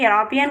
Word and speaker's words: European: है, ई वोवेल है, लेकिन उसका प्रोनाउंसिएशन कॉन्सोनेंट जैसा हो रहा है यूरोपियन यानी कि हिंदी का व्यंजन की तरह या, इसीलिए यूरोपियन के पहले ए लग रहा है।